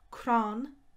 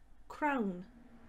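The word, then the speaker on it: crann: the irish for bethlehem behel christmas tree is cron nolog crown no look of course you might be more used to saying cron as crown that's fine too of course whichever way you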